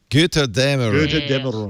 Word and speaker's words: Götterdämmerung: And how do you pronounce this? A umlaut? It's like an AE. Götterdämmerung.